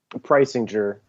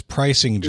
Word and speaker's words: Preisinger: Preisinger. Preisinger. I wasn't close. I was not close. So it's like a Price is Right game with a juror on the end. It's Preisinger.